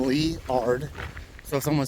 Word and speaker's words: Liard: lot and this is leard I was told to pronounce it like the name leard so if someone says you pronounce it wrong well that's what I was told leard Hot Springs uh five